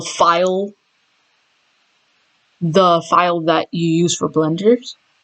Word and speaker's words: Blender: So .blend is the actual file, that you use for blenders. So it's pronounced Blender as the software and you make renders on Blender.